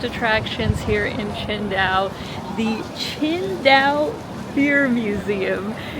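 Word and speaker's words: Tsingtao: Even though if you just look at how it's spelled, it's sing, right? Like this is the most common beer that we have, you know, in North America that's from China, but it's actually pronounced Chinda.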